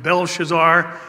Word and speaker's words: Belshazzar: times he's called Belshazzar I will call him Belshazzar as that is actually the pronunciation of his name and he has introduced